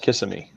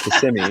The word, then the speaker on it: Kissimmee: of people out there call it kissing me yeah it's not kissing me you know it's kasimi you know it's just